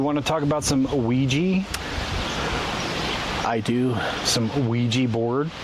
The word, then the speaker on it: Ouija: I think about it in French. Because oui, O-U-I, yes in French.